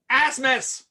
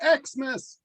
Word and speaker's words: Asmus: all right well um asmus it's pronounced xmas and as modius's eyes